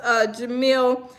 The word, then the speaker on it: Jamil: Jamal pronounced Jamil, not Jamal. Okay, it's Jamil. Wait. Jamil pronounced Jamil, not Jamal. Okay, so it's Jamil like my baby.